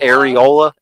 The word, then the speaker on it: areola: or Errol how do you say that word Ariel Ariel areola areola what about you um what are you